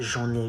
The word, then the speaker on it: j'en ai: You say j'en ai jusque là. J'en ai. You do the liaison.